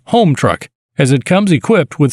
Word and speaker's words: Homtruck: million battery swap procedures pump truck is probably meant to be pronounced home truck as it comes equipped